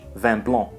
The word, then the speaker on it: vin blanc: vino Bianco in French van blown here the final C is silent so the last sound